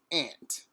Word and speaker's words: aunt: aunt some people say aunt I did hear in my schooling that the proper pronunciation is ant despite be you that